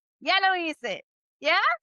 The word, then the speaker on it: hice: And remember, the H is silent. Doesn't speak. Okay. So it's HICE. Okay. For hice.